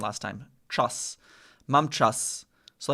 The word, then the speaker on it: czas: So I remember I think you actually used this as an example to help me with pronunciation last time. Czas.